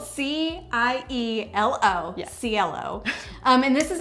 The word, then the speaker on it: Cielo: So this one is called Cielo. So it's spelled C-I-E-L-O.